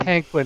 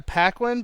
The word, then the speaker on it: Paquin: Paquin is also in it. Uh, I believe it's called Anna Paquin, but I could be wrong. Paquin.